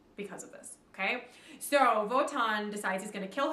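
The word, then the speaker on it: Wotan: god his father is voton who is king of the gods uh voton is another word that starts with a w but is pronounced like a v it's w-o-t-a-n uh voton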